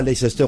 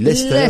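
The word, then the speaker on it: Leicester: Lester c'est lesester et glester on dit pas lesester on dit Lester on dit pas glécritécrit lesester oui ouiit grand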